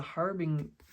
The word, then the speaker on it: harbinger: It's like this horse is a harbinger. I don't know why I wanted to say harbinger. I don't know why I wanted to make it a hard G.